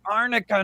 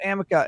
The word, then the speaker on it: arnica: mispronouncing it um because people kept saying it's arnica not amica and then like it